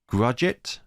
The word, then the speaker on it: Grudgit: I've been told that this is like you're trying to pronounce budget but you replace for B with a G so it's grudgit sure things have ended